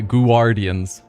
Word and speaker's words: Guardians: I was pronouncing each letter as it formed up, and the word Guardians isn't pronounced G-U-A, Guardians.